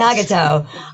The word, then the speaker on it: Nagato: Nagato. Did I say that right? Nagato. Very close. Nagato.